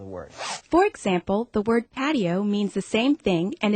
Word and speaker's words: patio: both Spanish and English in English we make patio a three syllable word patio in Spanish the I and the O sort of blend together into one sound making patio a two syllable word but do I walk